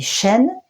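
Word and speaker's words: שין: sont des dents dans en effet ça se dit chîn et le chiffre qui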